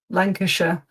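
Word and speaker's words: Lancashire: So it's typically sh Lancasher.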